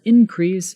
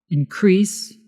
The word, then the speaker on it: increase: example there was an increase in the number of followers did you see the difference in pronunciation increase is the verb increase is the noun bonus section thank you